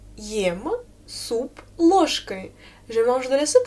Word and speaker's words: ложкой: Я ем суп ложкой. Alors, où est le mot mis à l'instrumental, à ton avis? Oui, c'est ложкой. Ложкой. Répète s'il te plaît, ложкой. Fais attention, j'écris je, mais je prononce ch.